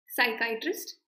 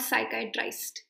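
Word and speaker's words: psychiatrist: अच्छा, किसी भी लेटर पे ये अगर जो डैश आता है तो उसका प्रोनाउंसिएशन आय होता है, आय. ओके, जैसे ये आय है, इस आय के ऊपर ये डैश नहीं है, तो इस आय को प्रोनाउंस करते हैं ई. Okay, tourist, साइकाइट्रिस्ट, नॉट साइकाइट्राइस्ट.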